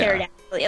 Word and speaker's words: pterodactyl: The P is silent when you say Terra, right? Like, yeah. Pterodactyl.